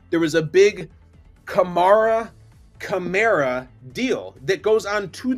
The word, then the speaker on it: Kamara: set the record straight is it Kamara or Kamara and he said he looked into the camera he said it's Camara it is Camara he said it he has never been on camera saying it's Kamara so he had to